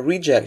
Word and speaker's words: reject: aborting the takeoff again if you use it as a noun you stress the first syllable and reject after v1 a reject should only be considered